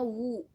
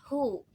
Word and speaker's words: whoever: ini emang penulisannya Who aku juga dulu mengucapkannya Wu W wu whoever wu tapi ternyata bukan wu si yang diilanginnya tuh huruf yang diilangnya tuh huruf eh w-nya jadi kita bacanya hu whoever whoever w-nya dihilangin gitu jadi enggak usah dianggap